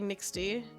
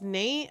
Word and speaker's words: NXTE: like, when you say NXTE, I'd be like Nixty. But that's just how I would call you. Nixty or... Yeah, Nixty is pretty much what I would call you. Your name It's pronounced as Nate.